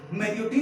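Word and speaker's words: Marriott: तो प्रोनाउंसिएशन क्या है, मैरियोट नहीं है, क्या है, मैरियाट, मैरियाट, मैरियाट।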